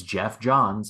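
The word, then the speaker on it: Geoff Johns: was like I heard Jeff John's I'm like that can't be right and so I rewinded a bit and then I listened to it again it's like it's Jeff John's and looking it here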